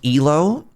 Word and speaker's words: Elo: It's pronounced elo since it's named after a person named Aprad.